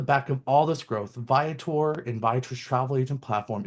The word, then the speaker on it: Viator: And again, it's Viotor, which know it means traveler in Latin.